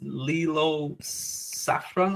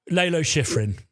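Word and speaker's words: Lalo Schifrin: It's Lilo Saffron or something. Saffron Lelo Shiffin.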